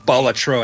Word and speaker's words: Balatro: Is that how you pronounce it? Balatro. What a stupid name. Balatro actually is what it's pronounced.